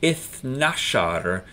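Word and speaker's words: اثنا عشر: we're counting tens, but when we count teens, generally speaking, we leave off the ta marbuta and don't pronounce the ra either. So we know that ithnain is our number for 2, and ithnashar is our number for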